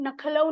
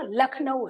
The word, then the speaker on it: लखनऊ: चाहिए था, हमने नखलऊ करा ना, हमारा उच्चारण नखलऊ नहीं है ना, लखनऊ है।